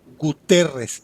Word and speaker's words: Guterres: un tuit de antonio guterres así se pronuncia correctamente guterres se apellida el señor